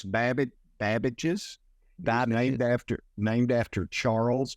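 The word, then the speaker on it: Babbage's: GameStop so talk to me how do you pronounce that first of all it's bab bages named after named after Charles Babbage yeah uh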